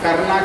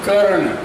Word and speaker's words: कर्ण: Function तो कहा कि प्रोफेसर करना कहिए हम KRNA लिखी छी तो हमरा नॉर्थ ईस्ट में करना कही हम कहे don't pronounce like this I एम कर्ण from North Bihar, Madhubani district.